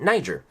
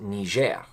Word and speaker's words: Niger: That's how we pronounce it, Niger. But it's actually a country that speaks French, and I believe you pronounce it Niger.